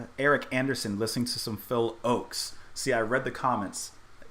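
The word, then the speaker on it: Phil Ochs: Anderson listening to some Phil Oaks see I read the comments per I had my pronunciation wrong as I often do Phil Oaks not Phil Ox I think I said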